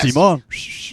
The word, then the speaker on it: Simón: Simón. Oh. I don't know why. It's pronounced Simon. It's actually Simon with an O with an apostrophe.